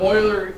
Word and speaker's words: Euler: buddies it does look like Euler but it's pronounced Euler why I don't know he's old and he's